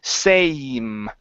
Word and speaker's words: same: so sitting on the same bench every day sitting on the same bench every day okay give me a good long a sound instead of Sam same same same good that's it good okay